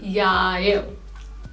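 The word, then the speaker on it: jeg: आई, आई को कहा जाता है याय, याय, याय।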